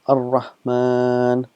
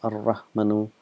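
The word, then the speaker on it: الرحمن: It's written as ar-Rahmanu, but we pronounce it as ar-Rahman.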